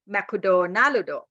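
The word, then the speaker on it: マクドナルド: Let's sit at this table and we can have Makudo Narudo. See that? We can have Makudo Narudo. I said, what? What is that? Makudo Narudo. Makudo Narudo. Oh, 6 syllables. Makudo Narudo. He means McDonald.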